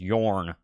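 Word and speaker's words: Björn: I know how to pronounce Bjorn. The O, the Nordic O. I don't know what it's called, but the O with a cross through it. It's Yorn, Orn, Or. That's the sound that makes.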